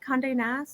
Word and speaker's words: Condé Nast: Condé Nast?